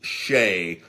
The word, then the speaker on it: Hsieh: and that's what it is a trailer park check it out online online just google Tony Shay's trailer park Las Vegas and his name is pronounced che but it's spelt like H E I Sh